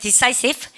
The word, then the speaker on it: decisive: 우리는 decisive 하고 싶죠? 이러면 I 발음이에요. 바로 그러니까 decisive.